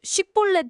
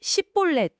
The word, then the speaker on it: 쉽볼렛: 네, 바로 쉽볼렛 발음 테스트죠. 에브라임 사람들이 쉬 발음을 잘 못해서 쉽볼렛을 십볼렛 이렇게 발음했거든요.